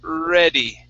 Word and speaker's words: ready: So we say ready.